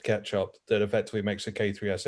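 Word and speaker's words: k3sup: He said it's pronounced ketchup, that effectively makes a K3S install like the simplest thing I've ever seen.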